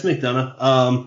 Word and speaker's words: McDonough: Is it McDonough? Yeah, it's McDonough. Okay. There's a few variations on the name, but I'm pretty sure they're pronounced all the same.